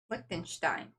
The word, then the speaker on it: Liechtenstein: Liechtenstein. Liechtenstein. Stein. Stein. I before E, except after C. It doesn't matter in German. So it's E-I. If it's E-I, you pronounce the second vowel, which is the I.